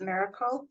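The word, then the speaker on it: MRKL: to solve tabular data are one is called Miracle system so it's m r KL it's pronounced as Miracle so this system combines large language model with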